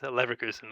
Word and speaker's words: Leverkusen: It's Leverkusen.